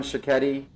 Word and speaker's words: Sciocchetti: Director of Admissions, Lauren Sciocchetti, which I learned how to pronounce her name when she told me it rhymes with spaghetti.